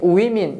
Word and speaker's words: women: 근데 발음이 women 이렇게 바뀝니다.